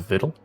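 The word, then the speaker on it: victual: the way back Bittle v-i-c-t-u-a-l is a Vittle yes why is English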